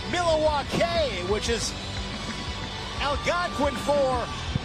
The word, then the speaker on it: Milwaukee: Actually, it's pronounced Milawake, which is Al Gangquin for the good land.